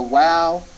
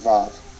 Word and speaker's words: vav: mentioned earlier that the wow to be pronounced as a v sound and they call it VAV that's the only difference